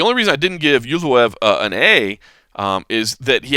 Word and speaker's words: Movsar Evloev: Talking about those rookie reports, Movsar Evloev, I think is the right way to say it. Evloev. I was saying Evloev, but it's Evloev.